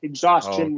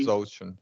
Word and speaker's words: exhaustion: covered last time right however when s comes before t n it is Chun exhaus question right for example exhaustion would be exhaustion okay right exhaustion would